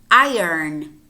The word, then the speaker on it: iron: and listen carefully to the following word iron iron what happens here is that the earth is not really silent but it moves and then you say